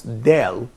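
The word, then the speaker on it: دال: If you would like to pronounce Dal, here is the point. So I would say Da, Da, Da. Put your hand, please, at your Adam's apple. You can find a kind of vibration here.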